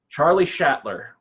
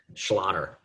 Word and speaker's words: Schlatter: Charlie Schlater? Closer. If there was one T, that would be right. I always say it kind of rhymes with a Jewish otter. Schlatter.